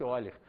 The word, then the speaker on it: Euler: Está escrito Euler, mas pronuncia-se Euler.